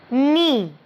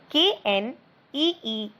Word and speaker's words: knee: Knee. K-N-E-E, knee means घुटना. Now dear, the alphabet K in knee is silent. We don't pronounce it.